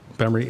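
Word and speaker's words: Gbemre: Nigeria the B case it's spelled GB M re I've written about it but it's bemory and uh a farmer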